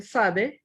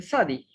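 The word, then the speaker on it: צדי: Luego sigue la consonante sade o la consonante sadi. Esta está compuesta por una sade y una kamatz, forma la sílaba sa, y luego una dalet y una jiri malé, forma la sílaba di, sa-di.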